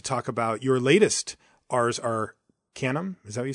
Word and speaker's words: Arcanum: Or you say Arcanum? I say Arcanum, yeah.